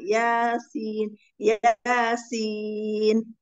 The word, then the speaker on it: Yasin: Kalau di Yasin itu bacanya ringan. Yasin, Yasin.